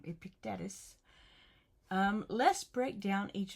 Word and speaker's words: Epictetus: Epictetus.